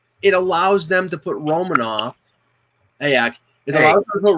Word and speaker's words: Romanov: Or Romanov, apparently that's how he's pronounced. Oh, now it's Romanov.